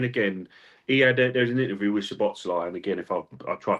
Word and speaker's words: Szoboszlai: best I can, boys, it's a Hungarian name, and so they're quite tough in how they pronounce stuff. But Szoboszlai is the best you're going to get off me, guys.